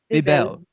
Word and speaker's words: Bebel: I'm so bad at pronouncing names. This is terrible. Bebel.